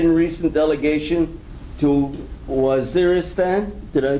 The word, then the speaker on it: Waziristan: He's participated in a recent delegation to Waziristan, did I pronounce that correctly? Pakistan? General, but Waziristan.